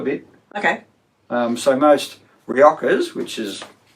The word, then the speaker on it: Rioja: okay um so most riojas which is this is a reactor with a j yeah rioja yep yeah it's mainly